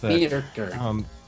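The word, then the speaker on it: Myrkur: Well, you have to roll the R's a little bit. Mirkur. I can't roll my R's, man. I've tried. It's practice. Mirkur.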